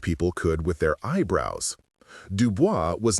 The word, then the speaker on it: Dubois: Dubois, pronounced Dubo, was short, black, and brilliant with a Martin Luther King mustache and a Danny Devito personality.